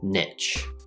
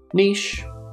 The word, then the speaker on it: niche: plus the n sound niche niche or niche both are fine i think that this